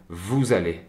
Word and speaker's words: vous allez: Vous ne pourrez jamais savoir qu'ils se prononcent ensemble vous allez, comme un seul mot.